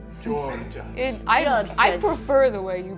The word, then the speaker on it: Jorjuj: The proper pronunciation is Joy Judge. George.